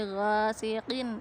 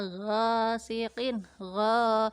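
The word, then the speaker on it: غَاسِقٍ: Selanjutnya nomor 8, pada kata ghasiqin, ada huruf ghain yang berharokat fathah dan bertemu dengan huruf alif. Ini namanya bacaan mat tobi'i atau mat asli ya. Bacanya gha, 1, panjangnya 1 alif.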